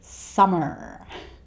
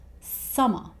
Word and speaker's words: summer: He doesn't say summer. He just ends this word with a, the schwa sound, summer.